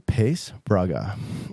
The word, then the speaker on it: Paes-Braga: My dad would say it being the Portuguese. Yeah. Man that he was Paes-Braga. But through time, it sounds like, the North American pronunciation of it is Paes-Braga.